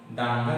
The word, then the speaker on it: দাঙ্গা: আমরা যদি লিখি দাঙ্গা, কি লিখি? দাঙ্গা যখন আমরা লিখব, দেখো গয়ের একটা উচ্চারণ আসছে।